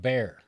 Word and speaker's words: Bexar: going on in the politics wait where where's Bear County ER by San Antonio it's called bear it's not bear in Spanish it's bear okay